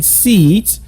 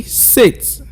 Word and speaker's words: six: hear you say that so you don't go saying seeds you should say six one more time again